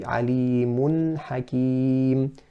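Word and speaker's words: عليم حكيم: We want to say alimun hakim, no qalqala on the noon. So making it, pronouncing it clearly with izhar without a qalqala.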